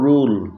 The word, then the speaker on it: rule: এখানে দেখো ইউ এর পরে ডাবল এল থাকা সত্ত্বেও আমরা উর মতো উচ্চারণ না পেয়ে আর মতো পাচ্ছি, ডাল। আবার পরের শব্দটি দেখো রুল রুল, এখানে দেখো ইউ এর পরে একটি এল রয়েছে অথচ ইউ ভাওয়েলের উচ্চারণ উর মতো পাচ্ছি, রুল।